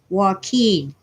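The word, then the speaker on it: Joaquin: Central Valley sanen Valley j o a quu i n is pronounced Walken don't ask me why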